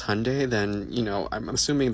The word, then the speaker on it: Hyundai: our people because Hyundai, pronounced like Sunday, not Hyende like you're saying, is a Korean company.